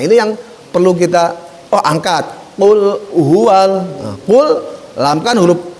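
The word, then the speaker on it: قل: Nah, pengucapannya hanya meleset ke bawah. Makanlah, bukan ucapkanlah atau katakan. Ini yang perlu kita angkat. Qul huwal.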